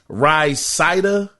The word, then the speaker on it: Rhysida: It's spelled RHYSIDA, Rysida Group.